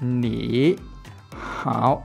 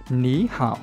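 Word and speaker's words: 你好: Thì khi chúng ta đọc gần nhau chúng ta sẽ đọc là nỉ hảo. Như vậy thì nó không được thuận miệng. Cho nên chúng ta đọc là ní hảo thì nó rất là thuận, bởi vì là có một hướng đi lên.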